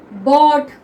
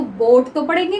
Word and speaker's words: bought: अब BOUGHT है तो हम इसको बोट तो पढ़ेंगे नहीं। ठीक है? और जो अगर कोई इसको बोट पढ़ता है तो वो गलत है, ये होता है बॉट।